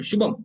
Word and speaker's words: Shubham: In Shubham, ma is should be pronounced fluently. Shubham, Shubham, Shubham. The ma is not that prominent or independent in the name.